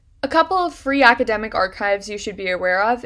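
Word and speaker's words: arXiv: free academic archive is archive that sounds or looks like arc cave but the x is supposed to stand for the greek letter chi so it's pronounced archive this is a repository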